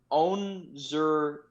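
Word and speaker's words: Onwuzurike: I looked it up and I heard him pronounce it. Onzurike. Onzurike. That's how it's said. So the WU is almost silent.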